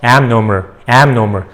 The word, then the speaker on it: abnormal: B가 묵음해요. abnormal. 그러니까 들을 때는 abnormal처럼 들려요. abnormal. 이게 B가 M 발음으로 살짝 바뀌어가지고 abnormal 합니다.